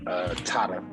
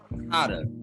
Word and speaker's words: Tadar: Tadar. Tadar.